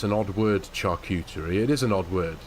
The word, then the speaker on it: charcuterie: It's a charcuterie board, not a charcuterie board. Charcuterie. It's what? Charcuterie. Char, not char.